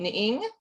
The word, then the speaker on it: Ng: her name is it and it's ng ning is it me that's how i pronounce it okay right i